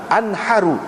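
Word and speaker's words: انحر: Nabi SAW kata kepada aku, anharu, bukan inhar, tapi anharu minal budni 67 atau 66 wa amsik li nafsika.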